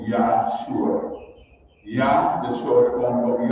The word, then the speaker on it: Yahshua: And the next part of his name, which is pronounced Shua, in Hebrew theology, it means salvation. So his name is Yahshua.